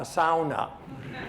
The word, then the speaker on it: sauna: And if you're anywhere in Northern Ontario and you have a Finnish engineer, you must have, and pronounce it correctly, a sauna in which to warm up after.